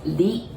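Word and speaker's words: り: yet, but this is li, li. I know it's written R-I, but remember we don't pronounce R, right? So we pronounce it like L.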